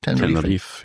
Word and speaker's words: Tenerife: Is that how you pronounce it? Tenerife, yeah.